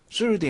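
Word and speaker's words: sword: 될 해 뉴스 벌수 르 수 옷 아닙니다 술도 입니다 술 등 w 가 바람 되지 않습니다 암술 든 묵음 된다는 거 젊은 사람은 증명에 딱 테리아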